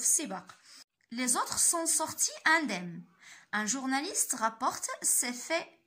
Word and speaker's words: indemne: Les autres sont sortis indemnes. Un journaliste rapporte ces faits. Que dit-il? Donc faites attention ici هاد لو مو كيتنطق indemne يعني سالمين يعني les autres sont